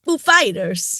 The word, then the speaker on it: Foo Fighters: on purpose that he's he asked like is it Foo or Fighters and he was like oh no put the emphasis on Fighters well he asked yeah he asked him how he pronounced it he was like Foo Fighters he's like the accents on Fighters they set him up